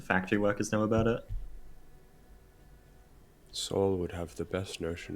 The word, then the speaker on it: Saul: S-A-U-L.